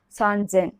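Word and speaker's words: 三千: Only this red highlighted area you have to change the pronunciation. For 3,000, san-zen.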